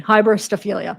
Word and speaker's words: hybristophilia: to you guys hilia okay that's how they say it online hybristophilia okay the final element